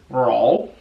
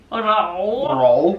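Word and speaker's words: 肉: It's spelled R-O-U, but you pronounce it as roll. Roll.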